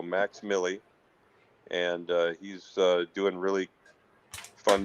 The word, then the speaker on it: MVXMILLI: He goes by the name of Max Millie, and it's spelled MVXMILLI. Again, V, the letter V is in Victor, MILLI. So Max Millie, and he's doing really fun material these days.